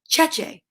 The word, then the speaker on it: Cece: who loan me books their last name is spelled the same way they're italian and they say cheche so you know what